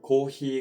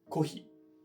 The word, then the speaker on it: コーヒー: えっと、例えば長音だったらスーパーがスパになったり、コーヒーがコーヒーになったりします。